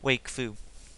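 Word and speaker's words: Wakfu: Haven bag is from Wake Foo or walk through what however you pronounce it um there are people pronounce the Wake flu people pronounce it walkthrough even in the show itself but the Haven bag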